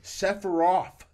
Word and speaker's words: Sephiroth: how many f's did you put in there sephiroth that's how you pronounce it sephiroth except for you yeah